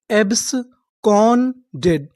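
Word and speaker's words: absconded: एब्सकडेड एब्सकोंडेड एब्सकोंडेड एब्सकंडेड का मतलब होता है फरार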